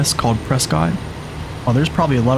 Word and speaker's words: Prescott: Like everybody calls it Prescott. Almost like biscuit, but with a P.